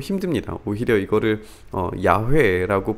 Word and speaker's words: 야훼: 오히려 이거를 야훼라고 부르는 것이 원래의 발음에 더 가깝지 않느냐.